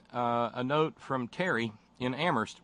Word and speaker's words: Amherst: note from Terry in Amherst where only the H is silent what guts it took